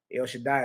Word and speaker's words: El Shaddai: of God Almighty, or El Shaddai. That's how you say it. El Shaddai is the way you say God Almighty in English. El Shaddai is Hebrew.